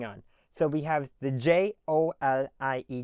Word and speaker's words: Joliet: Jolie is how everyone pronounces it. So just remember that it's not Jolly, it's Jolie.